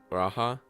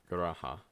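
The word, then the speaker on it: G'raha: Garaha. I'm just gonna say it like Garaha, I guess. Garaha. Unless I try to force the glottal stop, but anyway.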